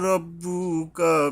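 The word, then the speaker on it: رَبُّكَ: রব্বুকা, রাব্বুকা নয়, রব্বুকা হবে, হরফে ইস্তিওয়ালার অক্ষর।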